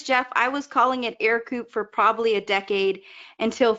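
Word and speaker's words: Ercoupe: back of their hands said, nope, it is Ercoop. Yes, and no worries, Jeff. I was calling it Ercoop for probably a decade until finally I was corrected. It's pronounced Ercoop.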